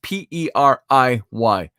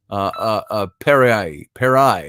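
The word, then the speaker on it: פְּרִי: It's the Hebrew word, it's pronounced P-E-R-I-Y, peri, perai maybe.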